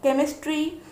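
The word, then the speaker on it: chemistry: एच ई एम आई एस टी आर वाई केमिस्ट्री, सी एच एल ओ आर आई N chlorine.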